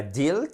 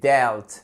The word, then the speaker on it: dealt: deal delt delt et attention c'est pas dealt c'est delt delt c'est gérer mais c'est